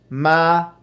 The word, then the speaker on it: Malia: Okay, Catherine says, Mel's name is pronounced Malia. Malia. She spelled out Malia.